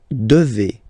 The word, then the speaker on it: devez: Okay, and then vous devez. Remember, classic ending for vous here, a Z, but then you pronounce this combination of two letters, et, devez, devez, vous devez.